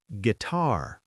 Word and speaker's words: guitar: Gu U I T A R guitar. The U is silent but prevents the G from becoming a J sound.